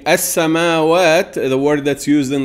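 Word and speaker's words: السماوات: As-samawat, as-samawat. It's pronounced with a long a.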